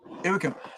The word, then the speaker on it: Joakim: So if you guys are checking out, you know, want to check out more of work from Joakim, and it is Joakim, not Joakim or Joakim.